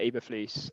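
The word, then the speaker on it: Eberflus: matt e baflu so i think you pronounce it eva fleece um their defensive coordinator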